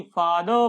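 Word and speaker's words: father: आज के बाद इसको फादर नहीं, फादर पढ़िए, फादर, मदर, सिस्टर, इस प्रकार से पढ़ना है।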